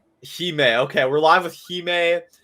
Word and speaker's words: Xime: Nobody Nobody knows how to pronounce it. It's okay. It's Heime. Heime.